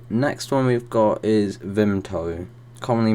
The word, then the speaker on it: Vimto: me okay so next one we've got is vimto commonly mispronounced as vinto but there's no p in it I definitely